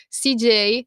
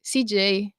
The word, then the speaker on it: CJ: nome su Instagram sicuro CJ scritto esattamente come l'ho pronunciato CJ cioè come come l'ha pronunciato quella J g e i CJ va bene Sì è